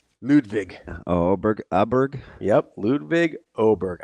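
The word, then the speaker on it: Åberg: Yep, Ludwig Oberg. I believe with the umlaut above it, it's pronounced as Oberg.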